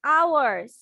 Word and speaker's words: hours: Not hours বলবা না, হয়ের উচ্চারণ মানে এইচ এর উচ্চারণ করবা না। ওকে, আমাদের এইচ এর উচ্চারণ করা যাবে না। হ্যাঁ, আমরা এইচ এর উচ্চারণ করব না, আমরা শুধু কিসের উচ্চারণ করব? ও দিয়ে করব।